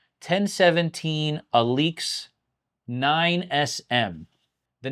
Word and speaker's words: ALYX: Royal Oak Alix Edition it's pronounced Alix not Alex alak only 78 pieces excuse